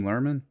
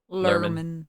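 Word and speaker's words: Luhrmann: movie is um baz how do you say this last name lurman lurman yeah Mr Mr lurman Mr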